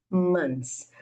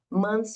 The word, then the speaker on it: months: Essa palavrinha meses, ela se escreve com esse th, mas na hora de pronunciar há uma pronúncia irregular que é mais simples, que você pode falar months, como se não tivesse o T nem o H.